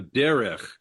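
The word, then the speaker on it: דרך: Before that one, 8:23, you have Derech. Derech Shlosha Yamim. Right. So 2 syllables. Yeah. Yeah. It's 3 letters, 2 syllables, first syllable stressed.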